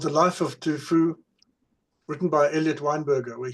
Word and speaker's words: Du Fu: Du Fu, sometimes pronounced Tu Fu with a T, or it's written Tu Fu, but pronounced Du Fu.